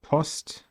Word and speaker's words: Post: How to pronounce it, like the sound in Post. Or Post.